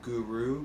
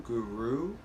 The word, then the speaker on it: guru: guru we pronounce it using the tip of the tongue to the roof of the mouth and it's a little bit of a rolled r there you want to